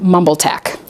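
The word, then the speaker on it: MBLGTACC: transgender allies College Conference the acronym for which is pronounced something like mumble Tech so mumble Tech is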